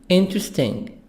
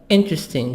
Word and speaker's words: interesting: debate seven boring boring interesting e silent interesting this e literally after T is silent interesting here interesting bus manager